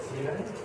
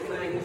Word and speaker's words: Clang: Nah, I think it's not on C-line? I think there's really no consensus. So some people say C-line, some say Clang.